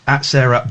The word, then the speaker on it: Sara: Benin CA Benin cassa I think it's Cara it's pronounced Sarah is s a r a Sarah beninca um she does